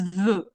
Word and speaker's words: veut: Vouloir is veut. And if we're having a look on the spelling, je veux, tu veux, il, elle, on veut, yes, the very last letters are different, but in terms of pronunciation, that's exactly the same.